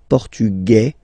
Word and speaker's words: portugais: Masculine, portugais, you don't pronounce the S.